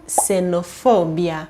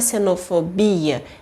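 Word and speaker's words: xenofobia: gente tem duas coisas um é o som do X que quando ele começa a palavra ele tem som de s e outra é a sílaba tônica que vai ser for e não Bia Então não é cenofobia sim se não fobia Agora me conta aqui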